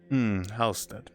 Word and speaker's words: Halstead: I am saying it right. Halstead? Halstead, yes.